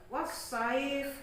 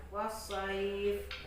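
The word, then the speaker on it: الصيف: Atau wasaif ya, tulisannya saifin. Maka kalau kita berhenti harus dibaca wasaif.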